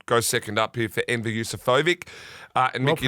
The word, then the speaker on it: Enver Yusufovic: Goes second up here for Enver Yusufovic. And Well Mickey D pronounced.